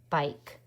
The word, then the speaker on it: bike: Bike. Ooh. Bike. How do we get that I sound? Ike. We need that strong K because we have a silent E that hops over, makes the I say I.